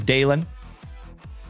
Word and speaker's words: Dalen: My name is Dalon. D A L E N like Dale plus N.